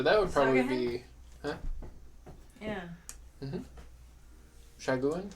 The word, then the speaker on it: Sahuagin: Shaguin? Saguin? I think it's like Sagaheng. Sahugin? Yeah, you're right. I don't know. I How don't know what the to spell it? spelling is. Yeah, I don't know. Sahaugin. Sahuagin. Sahuagin. Sahuagin.